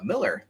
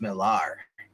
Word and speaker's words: Millar: done by another guy, by Miller that I like, but it's pronounced Millar.